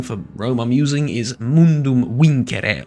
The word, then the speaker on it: Mundum Vincere: Rome I'm using is mundum win or mundum vinere if you whichever pronunciation you you prefer but I believe the most period accurate one would be mundum win um with that sort